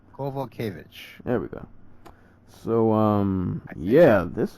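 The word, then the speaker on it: Kowalkiewicz: Kovalkiewicz.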